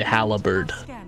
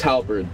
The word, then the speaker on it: halberd: they talk about the guy who adds extra syllables towards that's what you remind me of when you say Halla bird Albert whatever I want to think it's halberd that he should be going for it or